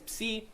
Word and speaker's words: psi: Okay, next one is psi, or again, some people will call it psi, but for our persons, it's psi, and it makes a ps sound in lips.